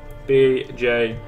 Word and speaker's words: Bjorn: How did you spell it, actually? B-O-R-N, B-J-O-R-N.